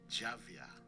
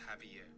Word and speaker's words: Javier: Yeah, but the J is silent, so we pronounce it Javier instead of Javier. So instead of J, it is H, right?